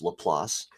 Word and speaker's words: Laplace: It has it's uh named after um leelas who a famous uh French mathematician and pronounced lelass.